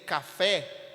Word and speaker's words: café: Café está em fé, parabéns está em bens, e açaí está no i, na última sílaba.